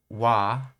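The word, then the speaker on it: は: sentence in front of the uh wa which was as it's pronounced when spoken uh and um foreign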